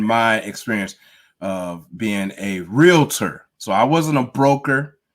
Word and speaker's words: realtor: remember that it's so important to pronounce it that way. Not a realtor. Okay. Can't say realtor. If you say realtor, that means you don't know what you're talking about. That's the realtor. So that's the wrong pronunciation.